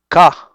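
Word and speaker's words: Kaa: का, का, ओके, काना, काफ से नहीं, का, the snake, and many monkeys friends, but Cheeto was not a friend.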